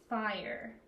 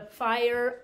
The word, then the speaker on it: fire: a sight word t-h-e the fire f phi i fire r and that says its name i've said its name so i think there's a silent e the fire alarm alarm uh uh